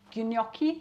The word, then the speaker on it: gnocchi: haven't had gnocchi before ginoki that's how it's pronounced it's some pasta made